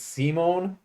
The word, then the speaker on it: Simon: don't know why but they're pronounced differently rather than Simon and Richter I believe it is Simone and rishta Rista yeah so there you